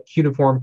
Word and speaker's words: cuneiform: beginnings of written language and what's called its pronounced couple to raise a cuneiform can they inform it's a basically language that's